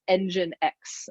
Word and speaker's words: nginx: it's spelled NG I and X and it's pronounced nginx and that took me several months before I